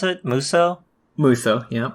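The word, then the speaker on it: Musou: How do you pronounce it? Muso? Muso, yeah.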